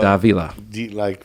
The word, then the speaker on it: Davila: So the name is pronounced Davila. Yep. So Davila.